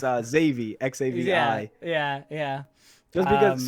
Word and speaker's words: Xavier: discord it's uh xavi xavier yeah yeah just because so in spanish my name is pronounced savier so uh what my